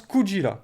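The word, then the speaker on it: Qzil.la: Oui, ça s'écrit Kidzilla, comme vous voyez à l'écran, mais ça se prononce Kujira, qui veut dire baleine en japonais.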